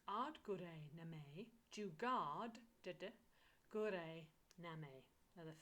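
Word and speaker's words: ਆਦਿ ਗੁਰੇ ਨਮਹ: So let's go into how it's pronounced. It's AAD GURAY NAMAY. That's AAD, AAD. GURAY, which is GURAY, GURAY, GURAY. It's always that R. GURAY. And then NAMAY. So NAMEH. AAD GURAY NAMAY.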